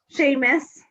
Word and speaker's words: Seamus: warm yourself up um what's the dog's name sheamus sheamus is that spelled like seamus yes how long have you had siemus march so he's a covid dog oh you